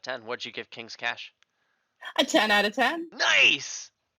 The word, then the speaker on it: Cache: that word yeah it's it's pronounced cash but okay I've heard so many people pronounce it cachet and you know languages